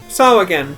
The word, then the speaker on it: Sahagin: Sawagan. That's how it's pronounced.